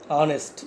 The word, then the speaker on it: honest: Here H is silent. So an honest, not honest. H is silent, honest. So vowel sound.